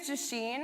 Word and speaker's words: Jasheen: My name is Jasheen, and that's pronounced like machine with a J.